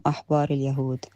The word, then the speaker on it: أحبار اليهود: Actually, the sentence is Hum Ahbar al-Yahud, which means they are the rabbis of the Jews.